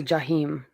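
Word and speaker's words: جحيم: In Arabic. uh-uh. It's, well, they say Jahim. Some I people can't say decide. Jahim.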